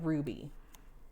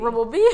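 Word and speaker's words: RWBY: it is pronounced Ruby. Rubbleby? Yeah, it's Ruby. I was always just thought it was Rubbleby. Nope, Ruby.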